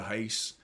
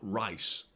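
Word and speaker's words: Reis: on Monday uh Vita haste it's Hast by the way V Hast not rice it's pronounced with an H so um yeah I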